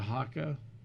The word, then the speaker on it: Hoka: Like the haka. That's how it's pronounced. Yeah. Like the haka dance.